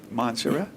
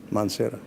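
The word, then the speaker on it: Mansehra: if I'm saying it right, Hazara University in Montserrat. Mansera, yes.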